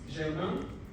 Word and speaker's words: Germain: Dr. Germain, that's how we pronounce it in French.